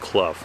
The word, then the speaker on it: Clough: seen on the internet that it is actually pronounced club so we're heading up there it's about 5.1